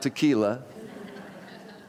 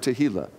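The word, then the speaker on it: tehillah: song of Thanksgiving now make sure you don't pronounce this one wrong it's not tequila that might make you sing a different kind of a song but okay so we have tahila the fourth one is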